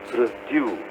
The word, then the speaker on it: produce: Produce. The stress is on due.